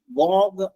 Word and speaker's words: vogue: ഒന്ന് VOGUE, വോഗ് എന്നാണ് അതിന്റെ ഉച്ചാരണം. വോഗ്, VOGUE.